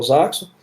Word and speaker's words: Zaxo: Na Zaxo é Z-A-X-O, como se fala, como se escreve.